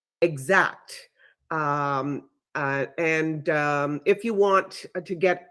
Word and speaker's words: Xact: one that I use is Exact, and it's spelled XACT, Exact.